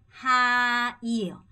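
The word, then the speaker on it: hai: 으야 되고요 자 두 번째 이거 할 때도 하이 아니고 하이에요 하이 하이 이렇게 발음 하셔야 됩니다 그럼 다시 한번 해 볼게요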